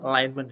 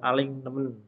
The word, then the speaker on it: alignment: create design ada alignment ini bacanya alignment Ya bukan alingen bukan ya angelmen Nah kalau orang Indonesia